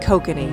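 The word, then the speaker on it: kokanee: pronunciation first of all nobody seems to agree on how to pronounce the word but the fishermen I saw they pronounced it coky so I'm going to go with that the second thing that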